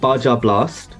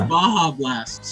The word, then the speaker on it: Baja Blast: So we say Baja Blast. In Spanish, the J is like an H.